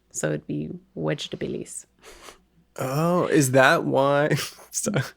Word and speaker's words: Vegetabilis: But the V in Latin is actually pronounced with a W sound. So it'd be Vegetabilis.